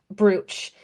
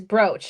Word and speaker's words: brooch: first started selling jewelry, Kyle called it brooch. And I'm like, "No, babe. It's brooch." And he's like, "Well, that's not how it's spelled." I'm like, "Yeah, but that's how people say it."